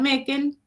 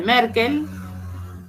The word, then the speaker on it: Meckel: Y el cartílago de Meckel, ¿sí? Fíjense que se escribe Meckel porque por ahí hay un apunte que dice Merkel y Merkel no es, ¿sí? Es Meckel.